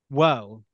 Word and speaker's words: Waugh: can get it so Dr whoa okay oh just like the uh British writer that's it okay Dr uh who is a